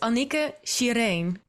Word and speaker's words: Annicke Shireen: is how my mom called me it's it's Anika Shirin okay but it's dutch right Dutch pronunciation we we lost like I said we